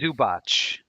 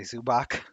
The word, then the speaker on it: Zubac: that I'm just saying zubot that's a c i don't say that either you say zubac yeah VL devach deok